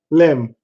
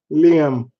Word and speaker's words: Liam: Lim. Did I say it right this time? Liam.